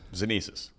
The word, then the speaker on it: Xenesis: So I think we should start us off with, I guess, the elevator pitch of what, am I pronouncing it right? Xenesis? Xenesis.